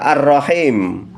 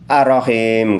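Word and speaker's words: الرحيم: Yang berikutnya adalah kata arrahim. Arrahim harus kita baca tasdid, tarkik tebal. Tidak boleh kita entengkan. Arahim enggak boleh karena ada huruf ro dobel atau ro tasydid.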